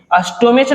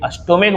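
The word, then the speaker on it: stomach: नहीं है, जैसे देखिए अस्टोमेच नहीं बोलेंगे, अस्टोमिक बोलेंगे और सिंगुलर नाउन के अंत में सीएच लगा हुआ है। अब जब हिंदी प्रोनाउंसिएशन करते हैं तो अस्टोमिच नहीं होता है, अस्टोमिक होता है, मतलब का मीनिंग दे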